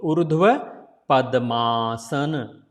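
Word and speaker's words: ऊर्ध्वपद्मासन: If you putting Padma and Asana together, then this become big sound because all A coming together. So Urdhva Padmaasana.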